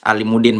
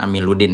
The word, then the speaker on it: Alimuddin: Saya Alimuddin bukan Amiluddin ya.